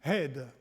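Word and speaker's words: עד: Eh bien, témoin, je me mets là, pardon, témoin, en hébreu, ça se dit « hed ». Et ça s'écrit avec un haïn et un dalet.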